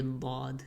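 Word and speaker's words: ضاد: side, or both sides, when they rise up and touch the upper molars, that's where dad comes from. Dad. Dad is the heaviest of the heavy letters because the entire tongue rises when you're pronouncing it. It's very tricky to pronounce and try to visualize it, but this part of the tongue, the side, will go up and touch the molars, the back chewing teeth.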